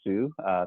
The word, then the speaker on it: Sou: As Frank mentioned, by way of introduction, my name is Sou. Think of a boy named Sue for those of you who are Johnny Cash fans.